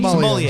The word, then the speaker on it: sommelier: Sommelier.